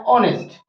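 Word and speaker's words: honest: silent माना जाता है ये साइलेंट माना जाता है इसको हिंदी में लिखेंगे तो ये होता है ऑनेस्ट ने शर से से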